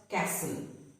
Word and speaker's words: castle: The T is then silent. For example, castle. It is not castle, but castle. Hustle, whistle.